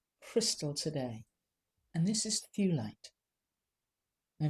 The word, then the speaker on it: Thulite: And we've got a gorgeous coloured crystal today, and this is Thulite. Now, if you wanted to pronounce it the Swedish way, you would say Thulite.